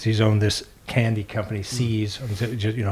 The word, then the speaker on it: See's: owned this candy company sees you know I'm pronouncing it sees spelled se e apostrophe s sees candy as the